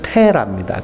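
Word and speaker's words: Terah: 이름은 달의 신의 이름이에요 그래서 데라를 영어로 발음하면 테라입니다 테라 맥주 이름이 테라네요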